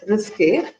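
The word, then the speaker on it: risqué: It is pronounced as risque, which have the same and only meaning of risk in English.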